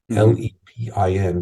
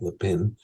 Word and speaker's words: Le Pin: France and made three bordeaux's Chateau Le Pen l-e-p-i-n but it's pronounced Le pin it's pronounced the pen even though it sounds like Le Pen amongst two others and um you know the